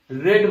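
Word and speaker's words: read: तो इस the book रेड बाई, क्योंकि रीड का थर्ड फॉर्म रेड होता है, स्पेलिंग सेम होती है, उसका प्रोनाउंसिएशन चेंज हो जाता है।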